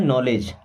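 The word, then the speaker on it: knowledge: है घुटना ओके और नो से बना है नॉलेज क्या बना है नॉलेज ओके ऐसे नो इंगली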